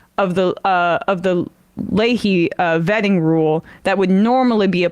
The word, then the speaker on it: Leahy: and that process is known as Lehi vetting um or Ley vetting sorry I keep saying it wrong but it's after Patrick Lei the uh the senator and